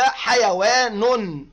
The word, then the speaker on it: حيوان: الكلمه الاولى كلمه حيوان نلاحظ ان كلمه حيوان انتهت بالتنوين بالضم فقلنا حيوان والتنوين والضم عباره عن نون ساكنه تنطق ولا تكتب وعند دخول الالف واللام